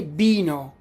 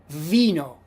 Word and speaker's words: vino: Don't say bino, because a lot of native Spanish speakers pronounce the letter V as B, similar to the letter B. They say bino, bino. No. In Italian is vino, v. vino.